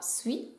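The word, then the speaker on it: 水: Dans tous les cas, le kanji se prononcera sui.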